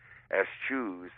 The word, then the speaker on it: eschews: And when Richard Lederer eschews, and by the way, that's the correct pronunciation, eschews a free lunch, you know that he's really working.